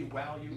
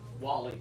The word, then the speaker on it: value: Okay, just think of it that way. Instead of Wally.